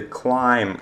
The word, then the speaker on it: climb: cosmetic move see Thursday climb smelly to be is silent you don't have to pronounce be when the emotional business